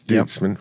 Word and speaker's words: Duitsman: Duitsman, isn't spelled like it sounds, but it's Duitsman, right?